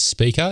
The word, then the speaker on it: SPKR: And then there's Speaker. It's spelled SPKR.